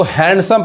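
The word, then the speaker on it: handsome: अब यहां देखिए इसको हैंडसम पढ़ते हैं। जबकि ये डी क्या है?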